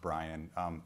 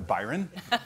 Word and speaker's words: Bryon: and just for clarification my name is pronounced Brian you can thank my parents for that if I say anything stupid you can attribute it to Byron and I've never seen